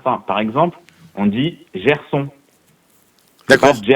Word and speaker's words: Gerson: Par exemple, on dit Gerson, d'accord ? Pas Gerson, tu vois, c'est ni Dieu ni on, c'est Gerson.